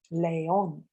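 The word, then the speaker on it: león: syllable word Leon however the word is pronounced as an Auda word with the stress on the last syllable and it ends in an N so therefore you must put an accent on the o the verb to laugh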